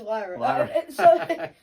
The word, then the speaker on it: Lyra: two that could win is it Lyra or lra it's Lyra some people say it